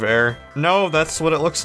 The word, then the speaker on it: Aar: Is it bad that before I knew how to pronounce Air's name, I pronounced it as R instead of Air?